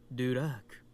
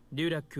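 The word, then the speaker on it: дурак: ロシア語だとドゥラーク。ドゥラックはその英語読み。 So he's pointing out the difference between the pronunciation in Russian versus the English pronunciation, which I guess is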